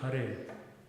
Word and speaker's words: Hare: so it's never hare, it's always hare. Hare. Instead of what? It's hare instead of what? Somebody might say hare. So hare is not good. Yeah, because it's the first syllable is lahu. It's short. Hare. It's almost not pronounced.